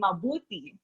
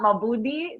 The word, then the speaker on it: mabuti: So it has to be mabuti. Okay, not mabudi. That's different. Mabuti.